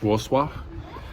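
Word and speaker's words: Wrocław: and Warsaw and uh I always mispronounce it spelled like war claw but it's like wall swap um and good dance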